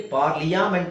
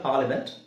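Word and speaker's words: parliament: ಕೆಲವು ಕಡೆ ಕಡ್ಡಾಯವಾಗಿ ಮಾಡಲೇಬೇಕು ಇಲ್ಲಿ ಪಾರ್ಲಿಯ ಯಾಮೆಂಟ್ ಅಂತ ಹೇಳೋ ಅವಶ್ಯಕತೆ ಇಲ್ಲ ಫಾರ್ಲಿಮೆಂಟ್ ಇಲ್ಲಿ ಎಸ್ಥೆಟಿಕ್ ಅಲ್ಲ ಜಸ್ಟ್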